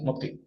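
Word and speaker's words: mots-clés: son modc sí modc se escribe modc bueno bueno se pronuncia modc bien luego de ello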